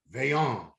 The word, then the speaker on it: Vaillant: all the way from canada please welcome antoine veyong you just told me how to pronounce his name right what's up antoine yeah